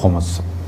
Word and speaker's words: خمس: الطاہرین۔ موضوع گفتگو خمس۔ عام طور پہ خمس کہا جاتا ہے، لیکن جو صحیح تلفظ ہے وہ ہے خمس۔ اگر کسی چیز کو